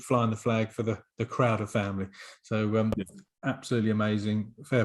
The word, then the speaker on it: Crowder: A lot of people think it's Leslie Crowther, I suppose, Exactly. as opposed to Crowder.